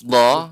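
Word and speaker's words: ض: Tinggal mungkin Bapak untuk huruf dha ini harus lebih dilatih lagi pengucapannya. Jadi dia huruf dha kedua sisi lidah menempel di gigi geraham atas. Dha. Sehingga tidak bukan hanya ujung. Kalau ujung maka do.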